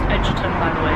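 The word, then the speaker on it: Egerton: It's pronounced Edgerton. No. I watched an interview with him and he was like, oh, it's pronounced Edgerton, by the way.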